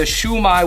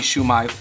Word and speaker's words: shumai: chicken shumai and Shuma the way it's spelled is the Japanese way because otherwise if it was in Mandarin it'd be xiaomai or in Cantonese it'd be sumai so I think this is